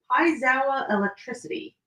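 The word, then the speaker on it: piezoelectricity: not videoing this, TJ, I literally had to look up how to say that word because of how long this word is. Paizawa electricity. But that's not what it looks like how it's spelled or how it's said.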